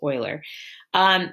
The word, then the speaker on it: Euler: his name's Leonardo Euler I know it looks like you learned but that's not how you say it's Euler he discovered this really